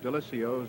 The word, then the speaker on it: Delisio: I know the pure Italian would be Delisio, but he prefers Delisio.